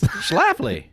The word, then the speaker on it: Schlafly: We've got the, how do you pronounce this? Schlafly.